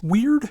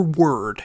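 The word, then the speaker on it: Wyrd: Now we have the third album from Crawling Chaos with what is either pronounced weird or word. It's W-Y-R-D, and I've heard it pronounced both ways, so, pick your poison.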